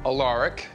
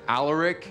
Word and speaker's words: Alaric: Now, the name Alaric belongs to a very dead great-grandfather I'll never be able to thank enough. You'll probably want to pronounce it Alaric, but it's Alaric, okay?